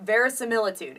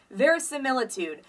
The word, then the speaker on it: verisimilitude: spell it for you ver similitude it's spelled v r i s i m i l i t u d e ver similitude the prefix very meaning true so truthful and then similitude sort of